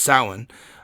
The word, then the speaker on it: Samhain: The Celtic festival of Samhain, I think you've seen it probably spelled Samhain, because that's what it looks like, but it's pronounced Samhain.